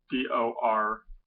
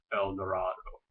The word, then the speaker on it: Eldorado: It's spelled Eldorado. Most people will pronounce this El Dorado, as in the mythical city of gold, El Dorado. In Decatur, though, we pronounce it El Dorado, or just Eldo.